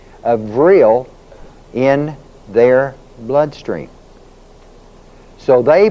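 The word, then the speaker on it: vril: among themselves is because they have something called vill v r i l latent in their bloodstream.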